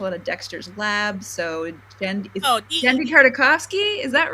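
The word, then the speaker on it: Genndy Tartakovsky: So Gendy Tartakovsky, is that right? Is that how you pronounce his name?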